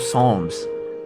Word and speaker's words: Psalm: The Hebrew written on it was the Old Testament book of Psalms. Um 77:13. Am I saying that correctly? Psalm. The P is silent, right? I'm like 85% sure.